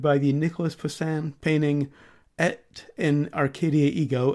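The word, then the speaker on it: Et in Arcadia ego: the Nicolas Poussin painting at in Arcadia ego and I have checked multiple sources that actually is the correct pronunciation also known as the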